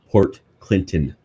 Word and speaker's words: Port Clinton: And you know how we pronounce it? Port Clinton.